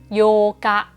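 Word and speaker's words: 八日: ที่ 8 นะ คะ วัน ที่ 4 เนี่ย จะ เป็น ซึ เล็ก เรา ออก เสียง เป็น เสียง กัก นะ คะ ส่วน วัน ที่ 8 เนี่ย โย กะ มี อุ ขึ้น มา นะ โย อ่าน เป็น เสียง ยาว ทัน ที นะ คะ ลอง ไป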